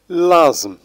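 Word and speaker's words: l'asthme: لازم، لازم، لازم وهي الربو، ونلاحظ أننا لم ننطق ت ولا أش.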